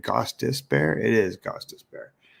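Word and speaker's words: Gostisbehere: ghosta bear holy smokes how do you say his name is It Gos dis bear it is gos dis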